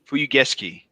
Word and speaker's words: Fuyugeshiki: How do you say it's the Presage Fuyugeshiki? I don't know how that's pronounced. Yeah, am I even close? Fuyugeski.